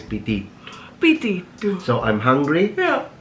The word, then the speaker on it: Pitito: Pitito. Pitito. It means hunger. When you have an appetite. Yeah. In Sicilian it's pitito.